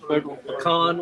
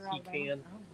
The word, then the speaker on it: pecan: peanut butter, pecan, pecan, which is the right pronunciation, not pecan.